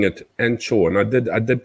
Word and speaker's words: Angkor: other angle and this is pronounced anchor so if you go into a pub or somewhere like that and you ask for an encore beer they will give you an ango beer not an anne chobia which is the angkor beer yeah so it's not anko it's anchor and encore is anko that makes any sense